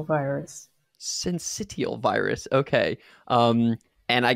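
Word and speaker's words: syncytial: you say that second word uh it's respiratory sensitional virus sensitive virus okay um and i guess we have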